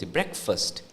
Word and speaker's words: breakfast: the second word f s becomes f s breakfast b r e AK breakast so it's not